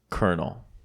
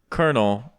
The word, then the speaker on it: colonel: this thought matthew yeah how do you spell colonel k-e-r-n colonel in an army c-o-u-r-n-e-n nope no c-o-r-n-e-l no here's how you spell it c-o-l-o-n-e-l yep colonel colonel why yes bro